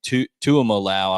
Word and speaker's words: Tuimoloau: and I'm going to butcher his last name, Tuimoloau, I believe is how you pronounce his last name.